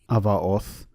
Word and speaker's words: Avaoth: I would like to note that I am using the Koine pronunciation of the letter Veta, so you will hear it as a V sound and not a B sound.